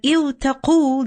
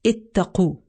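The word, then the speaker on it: اتقوا: But iwtaqu, this is difficult to pronounce. Okay? So within the language, the Arabs, this is what they would do, that if a word was difficult to pronounce, they would ease the pronunciation. Okay? So it's ittaqu.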